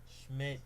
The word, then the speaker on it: Schmid: then was replaced by Akira Schmidt, and that, by the way, is the correct pronunciation of his last name. Oh, Schmidt, not Schmid.